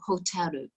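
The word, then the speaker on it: ホテル: the end of hotel the japanese ending is somewhere between the r and the l so hotaru so you could say and it would sound the same for a japanese person and then they've added that extra vowel at the end because they don't end words on the consonant generally there's one exception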